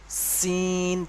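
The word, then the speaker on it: سين: এইটা উচ্চারণ করার সময় যেমন সিটি, সিটি মতো একটা আওয়াজ হয়, এই যে একটা আওয়াজ হচ্ছে, এইরকম ধরনের একটা আওয়াজ হবে। সিন পাতলা ভাবে, সিন।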